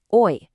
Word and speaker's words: hoy: The present, today, is hoy. Silent H.